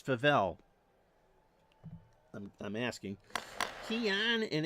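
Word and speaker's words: Favell: to the right of favel I'm pronouncing that right am I it's not faval it's favel I'm I'm asking Keon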